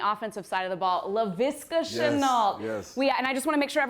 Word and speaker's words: Laviska Shenault: Want to talk to you about another guy who made some plays on the offensive side of the ball, Laviska Shenault.